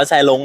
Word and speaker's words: แสร้ง: ใช่ ครับ เพลง แสรง แซ่้ง จริง ๆ มัน อ่าน ว่า แซล้ง นะ ครับ อ แซง แสรง อฟก